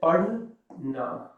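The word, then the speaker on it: पढ़ना: To read is you want to say pad na. Pad, and this is the d is a David sound.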